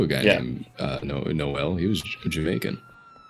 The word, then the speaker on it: Noel: I knew a guy named uh No, Noel. He was Jamaican. N O E L. Wait, no. He was in Jamaican. Did you stress like the the the last syllable?